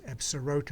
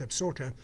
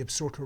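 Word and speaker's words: Absaroka: get towards the absurder that that absorota is pronounced absorter you get closer to the absorter range with the tower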